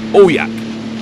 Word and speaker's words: AUJAQ: While out on the lake, I googled the pronunciation of the name, and it said it's pronounced aqua. Not trusting this, I did some more research once I got home, then found on another site that the said word is pronounced AUJAQ, which means summer in Inuktitut.